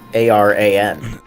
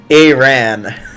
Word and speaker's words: Aran: But it's how the substitute teacher pronounced it. No, that was with two A's. This is like Aran. Oh. You done messed up, Aaron. It's a completely different name. Okay, so just Ron then. Yeah, Aran.